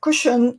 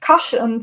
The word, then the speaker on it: cushion: you have noticed that i said cushion and not caution for the first time